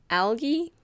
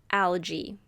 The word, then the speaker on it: algae: You can pronounce it algae or algae.